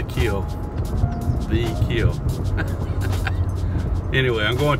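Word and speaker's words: Kiln: It's spelled K-I-L-N, but everybody around here pronounces it the kill.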